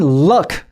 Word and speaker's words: luck: 그리고 운을 말하는 luck 같은 경우에는 그냥 어 소리예요. 어 소리입니다.